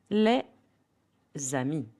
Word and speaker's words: les amis: les amis Normally, the S in les is silent alone. But here for les amis, the friends, we pronounce it.